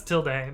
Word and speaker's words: tilde: i pronounce it till i know it's till day but till total is easier to say hey what's up c-301